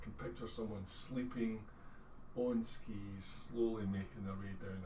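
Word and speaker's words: sgith: It's pronounced ski.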